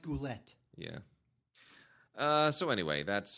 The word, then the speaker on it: Goulet: Uh Robert Goule, right? Bernardet Peters. Come on. It's pronounced Goulette.